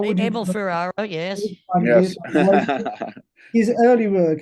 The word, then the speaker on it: Abel Ferrara: I don't know if I pronounce it well, but Abel Ferrara, how would you? Abel Ferrara, yes.